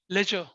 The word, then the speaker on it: ledger: लेजर account. इसमें क्या होता है? LEDGER, लेजर अकाउंट्स बोलते हैं, लेजर अकाउंट्स, लेजर अकाउंट्स बोलते हैं, पढ़ेंगे इसको हम आराम से, जिसमें से डी साइलेंट होता है, लेजर अकाउंट बोलते हैं।